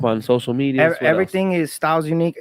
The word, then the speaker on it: Stilz Unqe: Everything is styles unique. It's most people pronounce it steals because the way I spell it, it's st i z n iq.